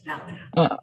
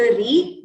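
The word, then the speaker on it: ऋ: The swara is r. It is neither re nor ru. It is in between.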